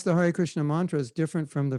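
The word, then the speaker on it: हरे कृष्ण: And it's not really natural to say it this way, but it's like this: Hare Krishna, Hare Krishna, Krishna Krishna, Hare Hare, Hare Rama, Hare Rama, Rama Rama, Hare Hare.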